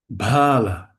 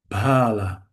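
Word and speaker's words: bāla: Bala. Bala. Only a little change. The a the a became a a a long a but there's a great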